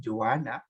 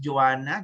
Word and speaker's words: Joanne: Yung sinabi kanina ni Joanna. Ano ba pag-pronounce Joanna? Joanny? Juan or Juan? Joanne, sir. Joan. Ba't may E dyan? Dapat Joanny. Hindi ko po alam sa parents ko.